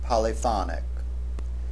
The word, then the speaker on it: polyphonic: polyphony, polyphonic. That is, the accent on the second syllable for the noun and on the third syllable for the adjective.